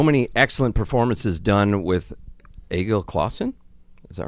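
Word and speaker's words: Egil: Yes, Agel. Yes. I've been playing. Okay, so that's the first time I've heard her pronounce it.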